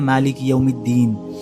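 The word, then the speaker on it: مالك يوم الدين: जैसे कि दाल के साथ देखिए मालिक यमिन नहीं पढ़ते हम सू फातिहा में हम पढ़ते हैं मालिक यमद्दीन ठीक है हम लाम को जो है साइलेंट कर देते हैं और लाम को दाल के साथ मर्ज कर देते हैं क्योंकि दाल पे जो है शद्दा है ठीक है मालिक यमद्दीन पढ़ते हैं हम बाद इसके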